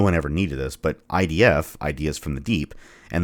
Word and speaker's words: id: I often hear people pronounce ID as ID, but that's not correct. It's ID and rhymes with did.